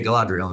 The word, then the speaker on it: Galadriel: Okay, Galadriel. Okay, good. Right. So Galadriel, what she says to Frodo is she talks to him about being free, about his choice.